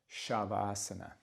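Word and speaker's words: Śavāsana: One of our favorites at the end here is Shavasana, but notice to get the sh sound, there's that little mark over that kind of acute mark over the S, which indicates the sh. Shavasana.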